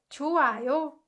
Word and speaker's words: 좋아요: when you're pronouncing it, you can just ignore it and say 좋아요.